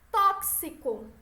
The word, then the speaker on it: tóxico: Tóxico. Intoxicar é como se fosse um KS.